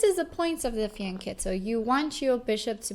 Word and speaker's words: fianchetto: to say it is faneto because CH in Italian is pronounced with a c uh but a lot of people say fianchetto as well as long